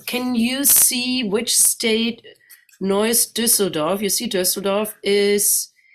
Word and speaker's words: Neuss: And here you see on the right side Neuss, and it's pronounced Neuss like, the sound, but spelled differently.